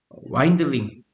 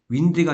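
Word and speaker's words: wind: 와인드링. 2번은 와인딩을 외우지 말고 윈드가 아니라 와인드라고.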